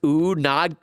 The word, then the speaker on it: unagi: It's pronounced unagi. Unagi. Oh, unagi. My bad. It's freshwater ya unachi.